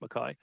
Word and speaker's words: McKay: Chair, my last name is pronounced Mackay, not McKay.